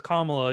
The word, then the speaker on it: Kamala: just so you know her name is kamala you can spread that around and um tell everybody else it's comma dash so i wanna i